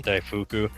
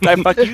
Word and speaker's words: daifuku: They're like daifu. What? Daifuku. You ever get the ones